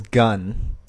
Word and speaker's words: Gunn: love to hi uh my name is gunn uh like the weapon i know very cool name not spelled like it but yeah well gotta